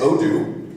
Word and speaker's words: Odoo: world you are there seems to be a pronunciation issue but oh it is oh do it it stands for on-demand open objects there